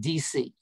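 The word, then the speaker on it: Deci: motivation one is edward dc it's pronounced like washington d.c and richard ryan and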